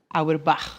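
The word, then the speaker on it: Auerbach: Eric Auerb, o professor Castro Rocha, pode corrigir aqui a minha pronúncia, mas vamos nessa. Abre aspas. Aerb. É, não sei falar esse esse pronúncia alemã não dá.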